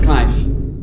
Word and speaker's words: knife: Okay so K ከN በፊት ስትመጣ ሁሉ ጊዜ አትነበብ። Okay.